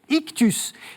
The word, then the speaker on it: Ichtus: traverse la mer yonienne pour un terme grec ictus ça s'écrit i ch t s ictus voilà peut-être